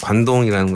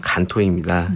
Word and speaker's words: 간토: 이 명칭 관동이라는 것은 일본어를 그냥 한자 음으로 읽었을 때가 관동이 되는 거고 네. 이 일본 발음을 하면 간토입니다.